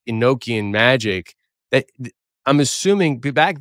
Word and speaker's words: Enochian: But I think it is pronounced Enochian, but then it's then the vowel O is short.